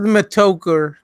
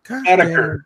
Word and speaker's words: Metokur: Who the fuck is Mitoker? Metokur. Stop pronouncing it like that. Nobody pronounces it like that anymore, dude. I always think of it as like weed smoking, like Mitoker.